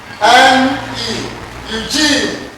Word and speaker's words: Eugene: Eugene. That's beautiful. Clap for him. Beautiful. Clap for him. E-U-G-E-N-E.